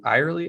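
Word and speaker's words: Ariely: then also dan uh aerially irely i believe is how you say that so he wrote predictably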